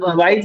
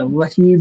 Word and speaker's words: वहीद: हमेशा आपके वाइद नहीं होता, वाइद नहीं होता, वहीद होता।